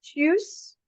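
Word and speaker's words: Tschüss: Then we have choose again. Spelling pronunciation is like this. Chew to chew your food. Chew and s.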